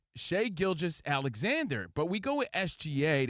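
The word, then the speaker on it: Shai Gilgeous-Alexander: Is it Shea? Is it Shai? Is it Gilgis? What's up, Gilgis? It's Shea Gilgis Alexander.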